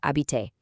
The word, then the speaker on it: habites: right onto to verb habiter to ask, do you live in Paris?" You see the spelling, but you know the secret pronunciation rule is to just say "habite".